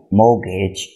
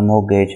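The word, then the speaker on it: mortgage: एक तरह से आपका मोर्गेज होता है। मोर्ग होता है जहाँ पर मुर्दे पड़े होते हैं, मुर्दा खाना, जबकि मोर्गेज होता है, टी साइलेंट है इसमें, जहाँ पर जो घर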